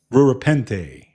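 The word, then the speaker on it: Rura Penthe: So, somebody says, what what's it pronounced? Rura Pen Rurapente.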